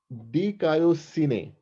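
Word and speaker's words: δικαιοσύνη: It's pronounced dikaiosine.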